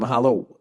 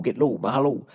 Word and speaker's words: mahalo: Mahala? Is that how you say it? Mahala. Or is it mahalo? Mahala. Get low, mahalo.